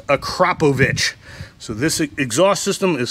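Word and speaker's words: Akrapovič: on c7s so the akrapovic is how you pronounce this not acropovich acropobic is how i've been pronouncing it in majority of the video but is actually pronounced acropovich so this exhaust system is full titanium a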